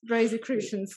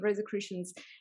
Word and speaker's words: Rosicrucians: i still haven't learned how to pronounce rosy christians thank you rosicrucians uh so was he